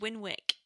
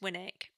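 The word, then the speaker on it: Winwick: because everyone calls it win wick and it's actually pronounced Winnick without the W like uh Nick is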